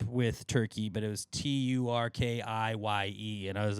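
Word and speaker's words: Türkiye: We're in the World Cup group with Turkey, but it was Tur Ki. And I was like, ah. So in the Turkish language, like their native language, they would pronounce it turkey.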